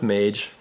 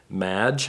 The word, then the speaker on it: Mage: it to people, and most people mispronounced it. I would get Madge, and I would get Maj. And actually, of the folks I showed it to, I think a majority mispronounced it. And to me, that's just a kiss of death with a name, with a brand name, as if a lot of people don't know how to say it.